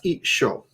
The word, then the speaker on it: 一緒: So that's I sho. 一緒 And, they say it like isho.